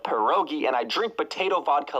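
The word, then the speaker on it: pierogi: down so even though I pronounce it as perogi instead of per Roi and I drink potato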